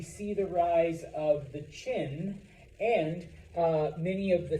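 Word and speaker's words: Qin: the rise of the Chin and uh many of the things that make China including the name I know it's with a Q but it's pronounced Chin uh what makes China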